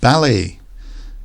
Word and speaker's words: ballet: rubbish we also have ballet which is a form of dancing very popular in France notice with a lot of these words that come from French we don't pronounce the last letter so the tea and